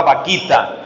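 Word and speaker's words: Bakhita: tengo dos ejemplos hay una Santa que se escribe con b grande pero la pronunciación suena chistosa la Santa vaquita una esclava africana hay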